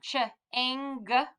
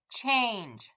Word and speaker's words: change: we have cha aing what if it we tried it with the gu sound cha ang no that doesn't sound like a word so let's try it one more time with the soft g cha ange change awesome and the last